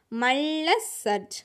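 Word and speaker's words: मल्लसर्ज: மல்ல சர்ஜ். மா லா வந்து half லா வந்துருக்கு பார்த்தீங்களா? அப்படின்னா என்ன? புள்ளி வச்சு உச்சரிக்கணும். சரியா? மல்ல சர்ஜ். அந்த லைன் இல்லாமல் இருந்துச்சுன்னா அது ஹாஃப் லெட்டர். சரியா? சர்ஜ் தான். ஊஸ்கி ராணிக்கானா, அவருடைய ராணி பேர் என்ன?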